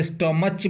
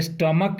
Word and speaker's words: stomach: तो CH के वजह से आप इसको स्टमच मत कह दीजिएगा। इसमें का जो CH है ना, तो कहीं कहीं CH को क भी कहा जाता है, पढ़ा जाता है। तो ये स्टमक इसका सही उच्चारण है, आप याद कर लीजिए स्टमक।